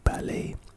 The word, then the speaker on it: ballet: at the end instead the second syllable should sound like lay why are you telling me how to pronounce it example my niece and nephew are in ballet classes so I watched